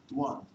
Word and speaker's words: Ŧuàn: about his language, whose name I'm going to pronounce correctly. Þéng? Þuàn.